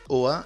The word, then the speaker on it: Oahu: Et en fait, Oa est la prononciation d'une île qui s'appelle Oahu.